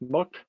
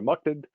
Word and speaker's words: MUTCD: something called the MUTCD, which is sometimes pronounced mucked by some people, or mucked.